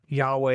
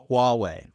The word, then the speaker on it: Huawei: And Yahweh used it as well. Should I you pronounce that? You say Yahweh? What deity we're going to talk about today? Huawei.